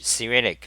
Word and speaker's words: Cyrillic: usually a Cyrillic okay it's pronounced Cyrillic because there is the international phonetic alphabet here's C relic okay